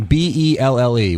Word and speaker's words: Belle: Sal, first of all, I don't think Ellie Macpherson from Ellie or however the hell it's spelt is such a huge stretch. But I think if there was a name, B-E-L-L-E, what's that name?